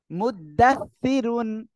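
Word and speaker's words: مدثرون: অনেকে বলে দাস দাস, এটা বললে সিন হয়ে যায়, কিন্তু এটা কিন্তু সিন না, এটা সা সা। জিহ্বার আগা, এই 2 দাঁতের আগার সঙ্গে লাগিয়ে উচ্চারণ করতে হয় এটা। মুদ্দাস, তাজের সি, মুদ্দাসি, সি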